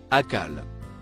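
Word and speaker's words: أقل: Il se prononce, akal.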